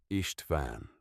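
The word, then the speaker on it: István: How do you say this name? Elena came to stand beside her. Ishtvan. She said it is Hungarian. The girl repeated it carefully. Ishtvan.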